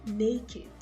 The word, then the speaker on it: naked: look at this word it ends with ked but it is pronounced as naked naked and then you have this one also which is also another exception wicked wicked so guys i'm going